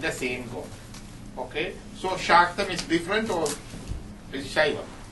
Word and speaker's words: Shaktam: You can spell it either way. And the religion Shakti worship is called Shaktam. S-H-A-K-T-H-A-M or S-H-A-T-H-A-M. Shaktam.